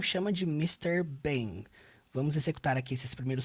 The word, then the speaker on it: Bing: Bing. So we're A primeira coisa que eu acho muito interessante sobre o inglês é que toda palavra que termina com ing, você nunca pronuncia a letra G, você já percebeu?